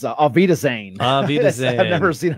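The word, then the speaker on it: auf Wiedersehen: Somehow we thought it would be an outpouring of the faithful to say, I can't even pronounce it, off Widerson. Oh, you know, that is, it's Avita Zane.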